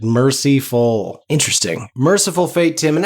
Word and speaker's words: Mercyful: I hate that pronunciation, but it is accurate. Mercyful.